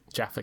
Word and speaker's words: Jaffa: Yes, Jaffa cakes. Jaffa cakes. Whatever. Rhymes with Jabba the Hutt.